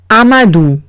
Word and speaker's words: Amadou: Siguiente palabra es Amadou. Amadou. O-U se pronuncia U. Amadou. Amadou es nombre de chico.